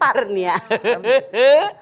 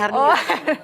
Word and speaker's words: Herni: Hernia. Rumah sakit. Sok. Herni bener kan bacanya? Asror, Kamu Asror. sampai Herni? Ditambahin A. Oh, Herni doang. Herni, si Asror A katanya Herni. Itu Balikai mah. Herni tanpa A.